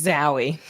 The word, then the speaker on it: Zowie: It's Zowie. Zowie Bowie. That's dumb. Like you lose points for that. If your last name is Bowie, your first name you gotta pronounce that Zoe. It's Zowie Bowie, obviously.